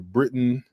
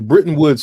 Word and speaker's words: Bretton Woods: The Britain, what's the name of that thing again?